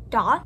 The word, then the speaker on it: daith: is my date piercing it's technically pronounced dot i believe however i say date because it's spelled date and it just like makes me uncomfortable to say doth because it's about like